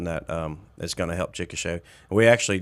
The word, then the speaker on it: Chickasha: So Chickasha is Chickasha, and a lot of people say Chickasha.